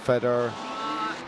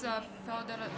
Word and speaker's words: Fyodor: So how do you pronounce this guy's name? Fedor? It's Fyodor Zhezhets.